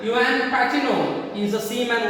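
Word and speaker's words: Juan: J is remaining silent here. We should have to be pronounced as a Yuan. Yuan Pacino.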